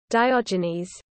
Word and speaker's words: Diogenes: Diognes pronunciation. Greek. All right, let's go. Diogenes.